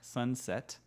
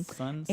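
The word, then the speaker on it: Sunsept: This is a song by Sweet Crude called Sunset. Set, like you think like S-E-T? Nah. S-E-P-T, which is the French word for seven. Mm-hmm. Sunset.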